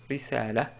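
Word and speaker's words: رسالة: On peut prononcer aussi, et d'ailleurs c'est plus correct, quand on s'arrête sur le mot risalatun, on dit risala, risala, car on a une ta marbota à la fin.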